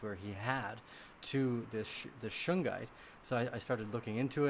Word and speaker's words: shungite: A friend of mine, I spoke with the day afterwards, after that interview, and he brought up that he had been taking shungite.